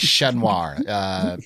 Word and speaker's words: Chat Noir: Chat Noir is Chat Noir. It's basically means the black cat in French. The T's are silent when you say the black cat, because I used to have a favorite restaurant called La Chat Noir.